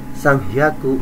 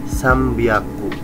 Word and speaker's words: sambyaku: yang di mana bacanya bukan sanghaku tapi sambyaku ya jadi kayak bahasa Arab non mati ketemu ba yalab ya sambiaku dan bacanya